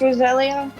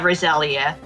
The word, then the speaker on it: Roselia: Okay, so that's pronounced Roselia. Yeah, Roselia.